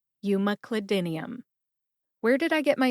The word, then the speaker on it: umeclidinium: Cli like clip, as in you clip or cut a recipe out of a magazine, Cli. Din like dinner. E like the letter in the alphabet, E. And like that filler word that many people say when they're trying to think of what to say next. Put that all together and you get Umeclidinium. Emphasize M and din. Din gets the most emphasis.